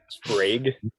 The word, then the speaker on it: Sprague: Sprague. Sprague. That's what I thought. Okay. Sprague, but Okay.